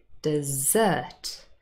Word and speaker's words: dessert: with the strawberries is dessert stress on the last syllable if we say desert